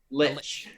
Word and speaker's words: lich: like, a lynch, and then she A just, lynch? like... What was a lynch? Right, what'd I say? You said You a said lynch. lynch. Oh, Lich.